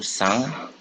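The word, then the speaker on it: cinq: 5 itu sang. Ini bacanya sang ya. Kalau ini sang ini kalau dalam bahasa Prancis, sang itu artinya darah.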